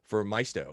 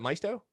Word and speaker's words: Maisto: and designing cars for Maisto. Is that how you say it? Is it Maisto? Yeah, it was Maisto. Yeah, Maisto. People will say either way. It's fine.